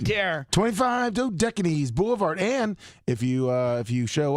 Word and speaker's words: Dodecanese: Lummy, if they're paying you the kind of money they are, then you damn well get a pronunciation. You guide. call Jimmy. Dodecanese?